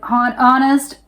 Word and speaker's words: honest: Honest H is silent.